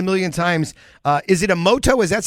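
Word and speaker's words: Imoto: passed it a million times uh is it a moto is that how it pronounced you know emoto is uh our newest restaurant and we're down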